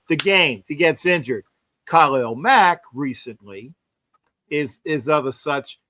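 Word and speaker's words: Khalil Mack: And I And for all that don't know my, like I said, Kyle Mack, and that's the way to say his name, is a great player.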